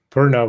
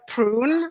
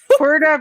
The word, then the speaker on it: Purna: I've heard prune. I've heard. The worst one I've heard is. I'm like, no, no. Purna, please.